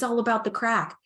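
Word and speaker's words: craic: the good crack and the good crack is here in Ireland it's it's spelled c-r-a-i-c and um it is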